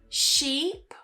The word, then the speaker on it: sheep: Sheep. Ship. So the first one is longer. Sheep. And you smile more. And the second one ship. We don't smile and it's shorter.